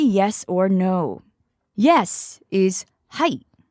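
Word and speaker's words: はい: Yes is height.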